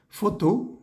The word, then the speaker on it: photo: tipo como de campo foto la pH se lee como una F foto animo en este caso